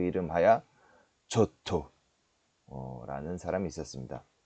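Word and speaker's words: Giotto: 있었으니 바로 그 이름하야 조토 라는 사람이 있었습니다 여러분들 발음 주의하셔야 되어 지오토 쪄 터에 여쭤 토 예 좋던데 지오토 지오토 라고도 불리웁니다 어 2조 토란은 사람이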